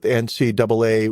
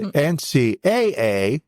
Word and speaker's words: NCAA: gaining International recognition 1982 NCAA women's basketball championship and I'm from North Carolina enough to know that when I see two A's together it's pronounced double A and not AA so the NCAA no the NCAA women's